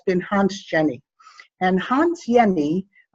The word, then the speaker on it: Jenny: And Hans Jenny, J is actually pronounced as Y, he's Swiss.